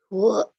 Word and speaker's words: would: Would, Bacanya would, L-nya silent. would you like some ice cream? Yes, bunyinya U.